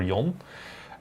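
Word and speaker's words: 四: you say how like how you say it in Japanese is she or yon and she is like dead as well like same sound so people are like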